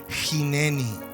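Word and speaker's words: הנני: La palabra y la expresión que utiliza el hebreo original es la expresión jineni.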